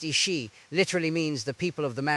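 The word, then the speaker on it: Aos Sí: The Ao-See, pronounced Ishi, literally means the people of the mounds or the people of peace.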